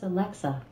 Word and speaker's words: Alexa: the weather like tomorrow alexa alexa the stress is on the middle syllable okay i didn't say